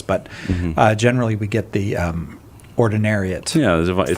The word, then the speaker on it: Ordinariate: It sounds really close to the Ordinariate form. Just a little syllable, right? Ordinary versus Ordinariate.